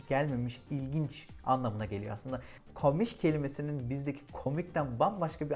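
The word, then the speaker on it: komisch: enteresan bulduğum bir şey komik kelimesinin diye yazılıp komiş diye telaffuz edildiği ama komik anlamına gelmediği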